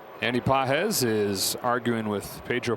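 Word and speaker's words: Pages: Pedro has the emphasis over the second syllable. Andy doesn't have any.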